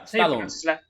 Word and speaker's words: Stallone: Yeah, Stallone. That's how you pronounce his last name, Stallone.